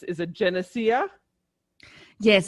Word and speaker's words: Genecia: and i just want to make sure i'm pronouncing your name correctly it's is it genocia yes it's janisha the nissa okay janisha yes janisha and and i am very excited